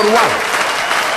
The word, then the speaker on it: Ruà: Al Silitù, Celeste di Muno Ruà, con l'accento sulla A. Michela Arca Marcaccia e la piccola Vaglia Conti.